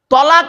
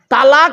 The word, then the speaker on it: তলাক: তালাক মানে জুড়ে যাওয়া, মিলিত হওয়া, একত্রিত হওয়া। আমরা তলাক না বলে সব তালাক বলি, ঠিক না বেঠিক?